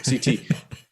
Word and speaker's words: CT: CT. Am I pronouncing that right? Yeah, CT, you were just talking about how important